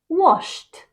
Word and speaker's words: washed: of these verbs and pronounce the Ed as a t sound number one jump becomes